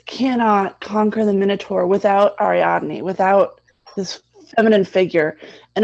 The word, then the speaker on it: Ariadne: Ariadne, thank you. I always forget how to pronounce these things.